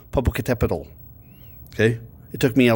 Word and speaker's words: Popocatépetl: list partially because it has the coolest name, Popocatépetl. Okay. It took me a long time of practice before I could say it right. Popocatépetl.